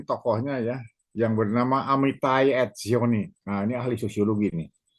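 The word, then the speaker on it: Etzioni: penganutnya antara lain tokohnya ya yang bernama Amitizai Zioni. Nah, ini ahli sosiologi nih. Amitizioni. Amiti. Menulisnya Amiti. Biasa saja. Amit @ Zioni. Zioni. E T Z I O N I. Amit zoni ya.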